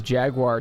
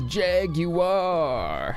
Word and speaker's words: jaguar: question shivroki asks is is jaguar two or three syllables uh it depends um because there's that uh there's that pink floyd song where they're like loves to drive in his jaguar and that sounds like three syllables to me jaguar but then you could also say it jaguar jaguar jaguar jaguar so i don't know i think it depends on how fancy you're feeling um but anyway there